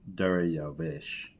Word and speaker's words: Dariyavesh: Dariyavesh is how you say that.